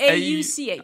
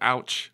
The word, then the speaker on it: Auch: Oh, is it A-U-C-H. Ah, yeah. Auch. I always thought that was pronounced ouch. No.